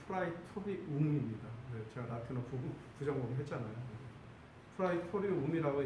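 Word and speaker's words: praetorium: 이 빌라도의 관정, 브라이도리온이라고 이제 다른 복음서에 나와 있고, 발음상으로는 프라이토리온이고, 라틴어식으로 하면 프라이토리움입니다.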